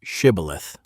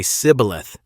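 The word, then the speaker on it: shibboleth: would ask him to say the word shibilith. To anyone else, it was just a word. But the Ephromites could not pronounce it correctly. They would say cibilith instead, dropping the esh sound.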